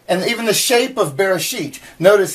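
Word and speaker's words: בראשית: pretty cool huh anyway so this is bear sheet and is the t sound so you sound it out verra sheet and if we look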